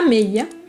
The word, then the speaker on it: meia: Alors le i, c'est vrai que c'est comme si on faisait un i, mais ça se dit a meia.